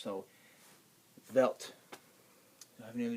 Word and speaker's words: Welt: a w it's not welt it's velt W's in German are pronounced like V's in English so velt do I have any